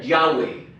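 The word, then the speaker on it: Yahweh: nombre de dios y se pronuncia yang wei entonces para los judíos pronunciar yaway oo en español yo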